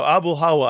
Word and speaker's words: Abulhawa: That's how you remember that one. It's Abul, how are you?